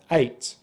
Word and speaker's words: eight: Now the word there 'ate', being the simple past form of the verb 'to eat' is exactly the same pronunciation as our number here eight.